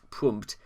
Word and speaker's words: Pmurt: And Trump, spelled backwards, Pmurt, with rhymes with hurt.